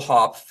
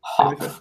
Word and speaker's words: Hopf: Hopf. That's how you pronounce it. How do you pronounce it? Hopf.